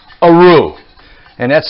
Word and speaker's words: roux: And what we're doing here is we're making what's called a roux. And that's spelled R-O-U-X.